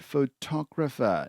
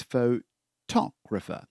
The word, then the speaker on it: photographer: hike and my dad is a very good photographer now be careful about the pronunciation of this now it's not photograph er but it's pho talk refer photographer the person who takes photos is photographer